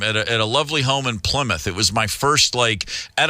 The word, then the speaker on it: Plymouth: Yeah, it's pronounced Plymouth.